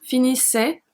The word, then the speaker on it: finissait: finissais, il, elle, on finissait, nous finissions, vous finissiez, il finissait, elle finissait. I don't know if you heard, but the 5 first and the 2 last are pronounced exactly the same.